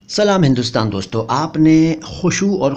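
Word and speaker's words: खुशू: यह बताऊंगा बाद में पहले इसके उच्चारण पर ध्यान दीजिए मैंने क्या बोला मैंने बोला खुशु और खुजू या खुशु व ू या खुशु खुजू खुशु नहीं खुसू नहीं खुजू नहीं खुजू नहीं ठीक है ध्यान दीजिए इन शब्दों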